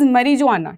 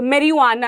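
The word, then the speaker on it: marijuana: ठीक है next is मरी जुवाना ठीक है उसको जुवाना नहीं बोलते वैसे जे इज साइलेंट वैसे तो मेरी वाना ऐसे बोलते हैं मतलब थोड़े अंग्रेज लोग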